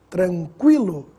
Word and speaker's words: tranquilo: pronunciado nas seguintes palavras quilo adquirir química agora tranquilo Equino iniquidade vamos ver a diferença da pronúncia do Gu mudo para o Gu pronunciado